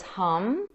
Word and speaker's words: Hum: And a Sanskrit mantra that I would recommend for the throat chakra is Hum. It's spelled H-A-M.